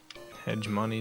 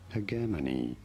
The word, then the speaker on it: hegemony: This is said as hegemony with a hard G and an emphasis on the second syllable.